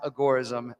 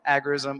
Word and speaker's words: agorism: agorist and john's right it is pronounced agoraism as per the man who created it but say it however you want agarism agorism it comes from the